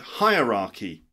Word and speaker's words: hierarchy: word is the word hierarchy hierarchy which is like a system of levels okay for example a hierarchy in a business hierarchy okay higher higher like higher or lower higher raah hierarchy for example there's a